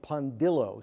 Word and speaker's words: Pondillo: first of all is pondillo spelled as it sounds p n then Dill d i l l like dill pickle then o like I think I